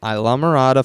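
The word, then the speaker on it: Islamorada: pronunciation on that one nope that is how you say it because there used to be a restaurant uh back home called alamada and it's yeah it's like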